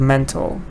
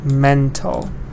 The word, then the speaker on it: mental: Then we have mental. Stress is on the first part, and it's an adjective, mental.